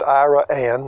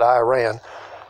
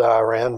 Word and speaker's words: Iraan: It's pronounced IRAAN, not Iran. You can get by with IRAAN, but IRAAN's preferred.